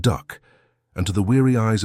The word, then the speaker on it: DUKW: This was the DUKW, pronounced duck, and to the weary eyes of the German engineers who salvaged it, it looked like a crude joke.